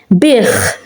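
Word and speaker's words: biegħ: Bich, it's at the end of a word, so we can hear the H. We pronounce it bich. You can say bich, because it's at the end of a word, he sold. So it's not silent.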